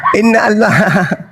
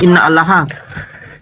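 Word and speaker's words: إن الله: Woi innallah bukan inna alaha parah. Innallaha yubirukimatim minhu. Itu cara bacanya begitu.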